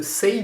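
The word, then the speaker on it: Saie: par acheter celui de Say Beauty, oui ça se prononce comme ça, je le sais, parce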